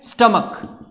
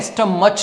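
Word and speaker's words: stomach: स्टमक, तो स्टमक है, स्टमच नहीं है, ठीक।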